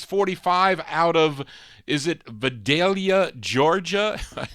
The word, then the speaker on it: Vidalia: We continue here for this 45 out of, is it Vidalia, Georgia? I said it right, Vidalia, Georgia.